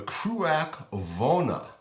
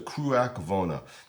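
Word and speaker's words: Cruach Mhòna: edition buah Haven the kak vona spelled much differently than it's pronounced but it is the kak vona so this is an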